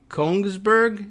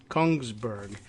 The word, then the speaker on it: Kongsberg: which we're aware, but Kongsberg, is that how you would pronounce this? I was looking for an extra I in there, like that it would be Königsberg, but it's Kongsberg instead.